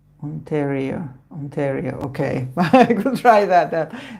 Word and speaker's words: Ontario: so you never never know beforehand ontaria is pronounced with more of a short e sound onario Ontario okay I could try that that's a difficult